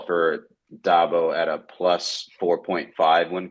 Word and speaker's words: Dabo: I thought his name was Dabo. I've heard 2 different pronunciations, and they're both ringing alarm bells in my head, boys. What are we doing here? Oh dear. It's Dabo.